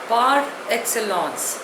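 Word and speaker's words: par excellence: पेरेंट्स in there प्रेजेंस the next word is पार एक्सलस spelling इ पी ए आर ई एक्स सी ई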